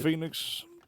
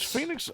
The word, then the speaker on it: Phoenix: Phoenix or Phoenix. Phoenix. Are we learning with that? Is Phoenix OE or EO? OE. Phoenix is OE.